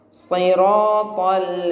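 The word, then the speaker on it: صراط: Sirata, nah ini huruf shad. Nah, jangan sampai terbaca tipis ya, tapi bacanya tebal. Jangan sampai dibaca siroto. Ini huruf sin. Nah, dalam hal ini adalah huruf shad ya pada ayat ini. Siroto, sai. Jadi gimana Ustaz bacanya? Caranya adalah pangkal lidahnya diangkat. Nah, maka akan bisa dibaca tebal.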